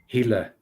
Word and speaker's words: Gila: How do I pronounce that? Hila.